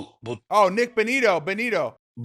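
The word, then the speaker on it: Bonitto: I like this uh Nick Batani, if I'm saying it right. But but Oh, Nick Bonito.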